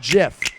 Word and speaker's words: GIF: coming listen it's a categorical fact that it's pronounced jiff just the way it is and I understand I understand if you want to call it gif it's your it's your right go right ahead